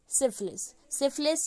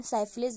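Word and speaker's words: syphilis: सिफिलिस या फिर इसका प्रोनाउंसिएशन साइफिलिस भी हो सकता है, जो भी आप करना चाहें.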